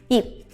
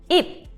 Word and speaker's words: 입: 입. 입. This word sounds like 잎, which is the word for leaf.